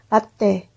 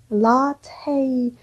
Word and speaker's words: latte: 우리 거의 여러분이 매일 마시는 라떼. 라떼가 아니라 라테이. 근데 요거가 특이하게 트 발음이 나요. 라테이 하시면 돼요.